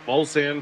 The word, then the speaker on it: Mulsanne: Mulsanne, like Mulsanne Strait. Bolsan? Yeah, I'm not going to remember that. The Mulsanne Strait, yes. Spell that for me. M-U-L, so that's Bull, right? And then S-A-N-N-E, that's Sam.